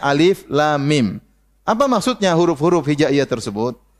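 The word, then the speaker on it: الم: Jangan baca alam tapi bacanya alif lam mim.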